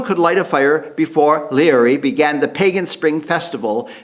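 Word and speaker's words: Laoghaire: The High King, whose name is spelled Leoghare in Gaelic, but is pronounced Leary of Tara, had decreed that no one could light a fire before Leary began the pagan spring festival, Bealtaine, a druidic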